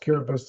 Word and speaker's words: Kiribati: We're talking along the equator, country Kiribati, spelled Kiribati, pronounced Kiribati, that goes, I think, 1,800 miles east to west, 24 islands, mostly archipelagos, only one that's higher.